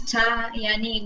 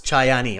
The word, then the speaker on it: Chayani: So I'll pronounce Chayani without H. It could make easy for pronounce. Okay, Chayani. Okay, Chayani. Yeah. Okay, yeah, because I can't figure out that H. I'm like Chah or Cha, so it's Chayani. Okay, silent kind of H.